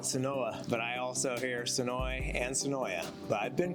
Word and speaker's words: Senoia: you say this anyway I definitely say it the right way sooi I catch myself adding a syllable I sometimes say soya and you'll sometimes catch people saying it SOA how about we go